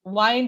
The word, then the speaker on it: wind: So in this sentence, wind have a rhyming with find. Rhyming with find. Wind is rhyming with find.